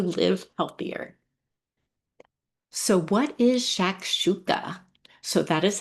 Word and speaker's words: shakshuka: So what is shakshuka? So that is how it's pronounced. It's just fun to say to me, right? Can you not say that a hundred times? Shakshuka.